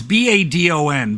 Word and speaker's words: Badon: Sister Tempest from now, it's B- A D O N, but I looked up the pronunciation and it's French.